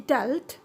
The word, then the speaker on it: dealt: For example, in deal, it is pronounced in short voice, in dealt, in past form, And in past participle again, it is pronounced in short sound, that is dealt.